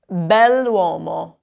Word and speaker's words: bell'uomo: So if you want to say the handsome man, you would say bell'uomo, bell'uomo. And it actually sounds like it's one continuous word, even with the apostrophe in there.